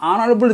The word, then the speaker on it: honorable: He is an honorable judge.